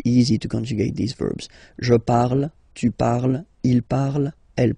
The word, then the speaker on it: parle: put the ending e, and then the way to pronounce it is je parle. So remember, we put it, okay, but then we don't really pronounce it.